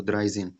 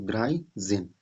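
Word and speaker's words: dreizehn: और 10 का क्या होता है, जेन, जेन, तो द्राई जेन, ठीक है। यहाँ देखिए 13 लिखा अभी, तो द्राई जेन यानी 13।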